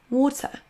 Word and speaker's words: water: Le mot O se prononce avec un son schwa à la fin. Water, water.